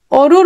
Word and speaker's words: অরু: আবার দেখো, আমি বললাম অরু, লেখছি অ দিয়ে, বলছি অরু। অ এর উচ্চারণ কিসের মতো হয়? ও এর মতো হয়।